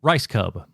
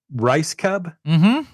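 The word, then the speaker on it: Rajskub: that that was my question how do you pronounce the last name rice Cub rice Cub oh nice easy to pronounce um how far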